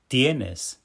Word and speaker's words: tienes: Tienes. Tienes. Tienes. Did you hear how that first syllable, tie, jumps out a little stronger? That's the tonic syllable showing us where the pow goes.